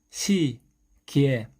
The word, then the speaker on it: 시계: 시계, 이의 발음은 이와 의 발음을 빠르게 연결해서 이예, 이예, 이예, 이예라고 발음합니다.